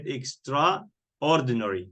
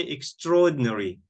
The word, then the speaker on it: extraordinary: some people I heard some American people they said extraordinary they say like this okay so I don't think it's wrong extraordinary but in British dictionary they say extraordinary extraordinary extraordinary extraordinary okay